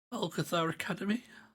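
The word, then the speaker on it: Algeth'ar Academy: and I did Alcathar Academy.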